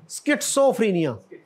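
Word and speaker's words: schizophrenia: आगे एक बीमारी है जी ये, हाँ, स्किट्सो, आप मेडिसिन से है ना, how would you pronounce it? स्किट्सोफ्रीनिया, स्किट्सोफ्रीनिया।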